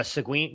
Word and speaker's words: Seguin: Yeah, Seguin. Yeah. You're asking the wrong person. I'm like Colin Decker over here trying to pronounce things.